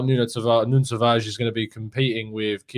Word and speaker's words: Nuno Tavares: He also coached Nuno Tavares, or Nuno Tavares, as you'll find out. Nuno Tavares is how you pronounce it, and you'll find out how you properly pronounce it from Joao on the show.